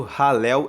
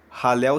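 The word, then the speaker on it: Hallel: 118 formam o chamado ralel egípcio ralel se escreve h a l l e l e ralel egípcio são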